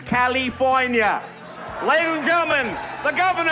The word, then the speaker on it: California: Apparently we have all been wrong. It is pronounced California.